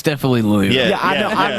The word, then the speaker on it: Louisville: Devonte Parker at Lewisville. You know, he was uh it's Lewisville. No, it's Louisville cuz Yeah, the S is silent, but I like I like Lewisville.